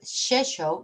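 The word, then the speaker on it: Rzeszów: polish students from the university of cheshoe is pronounced i know it's very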